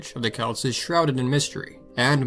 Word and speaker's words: Celt: Outside of basketball and soccer, usually these days we pronounce it Celt.